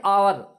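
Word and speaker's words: hour: देखिए यहाँ पे एन आवर, आवर मतलब होता है घंटा। तो इसमें भी देखिए जो एच है, एच को हम नहीं पढ़ते हैं, एच साइलेंट है, बल्कि हम ओ से शुरू करते हैं पढ़ना।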